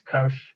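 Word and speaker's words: cosh: this is cinch right hyperbolic sign is pronounced cinch hyperbolic cosine is Kos this is set coet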